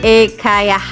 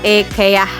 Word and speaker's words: IKEA: Yuk, ikutin lagi jalan-jalan di Ekayah. Gimana ngucapinnya? Kalau IKEA tuh orang Indonesia banget ya. Ternyata pengucapan Swedia itu kalau enggak salah ekeah seperti itu.